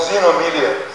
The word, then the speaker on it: xenomelia: Also called xenomelia. X-E-N-O-M-E-L-I-A, xeno means foreign. And about half these patients, third to half these patients, go and get it amputated.